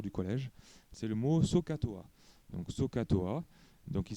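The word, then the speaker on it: SOHCAHTOA: m'en souviens toujours du collège c'est le mot sookatoa donc sookatoa donc il s'écrit sooh C H t a S a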